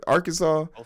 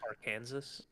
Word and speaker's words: Arkansas: would be just per Arkansas it's AR Kansas no it's Arkansas don't you come here with your Yankee pronunciation I know I'm dyslexic